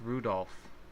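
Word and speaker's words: Rudolf: I'll tell you that that mess of characters is pronounced Rudolph he must hate grandfather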